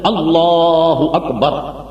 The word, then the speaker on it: اللہ اکبر: ہے اللہ اکبر، اور معاذ اللہ کوئی اسے مد لگا دے اللہ تو نماز فاسد، تکبیر تحریمہ شروع نہیں ہوئی، سمجھ گئے؟